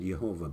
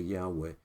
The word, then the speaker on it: Yahweh: Testament the original is Yahweh some pronounce it yehovah but it's more accurately Yahweh and it basically means